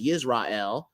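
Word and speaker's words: ישראל: Now, sometimes they have it as Yisrael, but for the most part, they say Israel, okay, in the modern day. So this is a Yod right here, but yet they got you pronouncing it as an I, okay? This is a sheen. Remember, it makes the SH sound, but they pronounce it as an S because of these vowel points.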